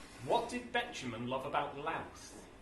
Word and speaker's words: Louth: What did Betjeman love about Louth? Mouth. Rhymes with mouth.